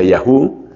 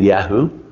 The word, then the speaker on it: Yahoo: Luego, en una época, tuvo muchísima fuerza el portal de contenidos de Yahoo, que nosotros siempre decimos en Latinoamérica Yahoo. Me parece que aquí la pronunciación típica es más bien Yahoo.